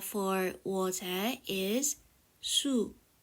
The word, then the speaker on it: 수: word m water the H for water is su su knowing H is like knowing the root of